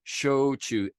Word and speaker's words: shochu: my life shochu s-h-o-c-h-u show to just pronounce it like the verbs show and choose show me how you chew your food like you would say